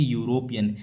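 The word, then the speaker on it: European: इसमें देखो इसमें पहला तो यूरोपियन में इ आ रहा है। इ एक स्वर होता है। लेकिन इसमें ध्वनि किसकी आ रही है? यूरोपियन।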